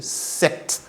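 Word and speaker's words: cet: 7 encore ce t il est écrit c e t mais en bon français vous allez le prononcer 7 de la même manière que ce 7 avec d e t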